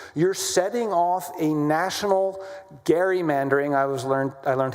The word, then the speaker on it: gerrymandering: from Massachusetts who uh gave rise to the word gerrymandering which is how we say it. His name was Gary. So gerrymandering, a nationwide gerrymandering war is now in effect because of us, right?